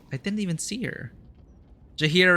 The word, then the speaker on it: Jaheira: Jaheira rhymes with Shakira.